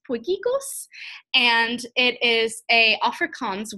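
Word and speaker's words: potjiekos: how to pronounce this word so it's actually pronounced boy giggles and it is a Afrikaans word and I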